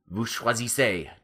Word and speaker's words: choisissez: Now we still want that A sound at the end of choisissez, but you have to do that thing where you drop the R and add the SSEZ.